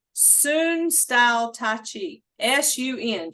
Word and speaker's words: Sun: Sun style Tai Chi, S-U-N, just like the sun, but it's pronounced Sun.